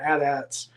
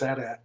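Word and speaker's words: AT-AT: And by the way, it is addat. I'm I'm that old. So, hey, I'm not disagreeing with you. It is at. That's how I've always pronounced it. And if you say at, I'm sorry. No. Get out of here. Te technically at is probably correct, but for me it's adat.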